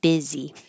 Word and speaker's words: busy: When you're busy, I always think busy is so weird that it looks like bussy, but we pronounce it busy.